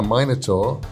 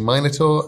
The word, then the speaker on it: Minotaur: Crimson Soul 21 says, if I asked nicely, could I ride a Minotaur like a horse? I'm English, I say Minotaur. Americans say Minotaur. It's weird to me.